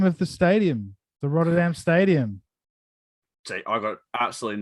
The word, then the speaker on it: Rotterdam: Rotherham? It's Rotterdam or something.